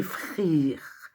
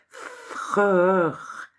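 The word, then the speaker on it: Freer: qui est aussi appelé Frere, Freur, F-R-E-E-R, en anglais E-E, ça fait I, ça se prononce I.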